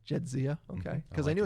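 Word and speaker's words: Jadzia: How do you pronounce the cat's name? Jedzia. Jedzia.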